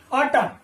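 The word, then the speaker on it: autumn: यहां देखिए next word में ए यू टी यू एम एन, ऑटम, ऑटम, यहां पर जो एन है वो कैसा, साइलेंट है, इसका प्रोनाउंसेशन नहीं होता है, तो ऑटम का मतलब होता है शरद ऋतु या शरद, ठीक है।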